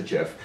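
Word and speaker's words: GIF: that you could animate glittery unicorns ifs I pronounced a jiff on your screen and had four instructions to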